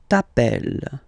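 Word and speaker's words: t'appelles: Okay, remember final S not pronounced tapel.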